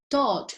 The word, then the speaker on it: taught: Careful with that, yes, because taught is similar, but it's not pronounced the same, although it looks like kind of very similar to touch. Careful with that. So it's more similar to the sound when you say Tot, el dios egipcio Tot, yes?